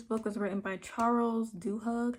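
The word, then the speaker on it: Duhigg: was written by Charles dooh hug I think that's how you say his name doig doig Charles DG is a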